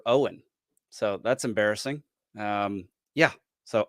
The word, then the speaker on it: Eoghan: Didn't know that Eoghan was Irish for Owen.